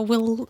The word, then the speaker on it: Oui: and then some of us have some alternative pronunciations so we'll we would like to hear what so the company